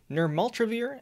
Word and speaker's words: nirmatrelvir: which is really hard to say but it's pronounced nirmaltravir and retonavir this drug comes in packaged kits